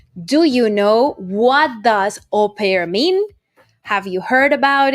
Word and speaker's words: au pair: never heard of that we just want to spell it out for you au pair a u space p a i r that